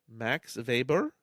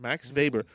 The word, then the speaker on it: Max Weber: Max Weber? Yes. Okay, Max Weber. Okay, we've not done With a a W. Mm-hmm. W. Okay, but it's Pronouncing it German style. I was doing German.